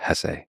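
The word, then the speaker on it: Hesse: and by the way please allow me this pronunciation of his last name I've heard some people say Hess but my whole life I've always said Hess so anyway it was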